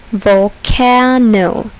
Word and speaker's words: volcano: Volcano. Volcano. Here, the second syllable is accented. Volcano.